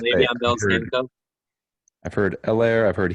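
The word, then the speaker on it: Helaire: I've heard Elaire, I've heard Hilaire, I've heard Elaire. Not sure how to say it I anymore. thought it was hello. Hilaire. Like hello.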